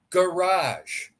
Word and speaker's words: garage: is no no it's a g as in garage garage where you have G GG but then later you have J for G garage so when reading it